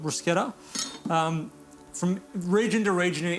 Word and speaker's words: bruschetta: Now, bruschetta, and I'm pretty sure that that is the correct Italian pronunciation of it, bruschetta.